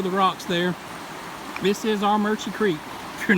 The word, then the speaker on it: Armuchee: it coming over the rocks there this is our merchant Creek you're not from North Georgia you'll never look at AR mu CH EE and pronounce it our merchants but that is how it is pronounced we